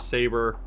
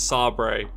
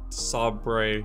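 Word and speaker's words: sabre: anyone that misses pronounces saber it's not saber it's sobre saw Bray I'd probably die because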